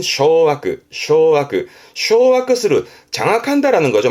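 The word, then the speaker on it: 掌握: 발음은 쇼아크, 쇼아크.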